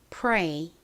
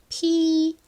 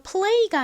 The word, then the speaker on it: play: 이렇게 P-R-A-Y와 같이 자음의 뒤에 R이 오면요. 리을 받침이 생기지 않아요. 그래서 play가 아니라 pray라고 발음을 하죠. 그런데 자음의 뒤에 이렇게 L이 오는 경우에는 리을 받침을 꼭 넣어 주셔야 됩니다. 그래서 발음이 play가 되죠.